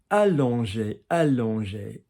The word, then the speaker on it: allonger: Allonger. allonger, so allonger. That doesn't go too wrong in the English. So allonger. Twang, quarterback, on, twang. Duck, quarterback, duck. Allonger.